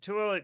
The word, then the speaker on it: Tooele: The name pronounced Tooele derives from the name of a Goshoot chief, Tooele, the Shoshone word for black bear, anglicized as Tooele.